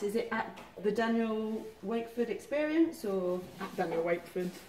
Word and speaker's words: Wakeford: Well, when I check to see some artist list here, it says Wakefield, but that's wrong. Sometimes it should be get Wakeford.